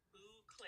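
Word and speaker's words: bouclé: Okay, so with this, um, I was looking at my other because I did get some boucle. That's how you say it, boucle yarn. Boucle, I yeah.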